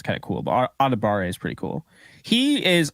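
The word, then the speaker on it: Adebawore: out that it's actually adibare so it's spelled like a dab of War which honestly kind of sounds kind of cool but adibare is pretty cool he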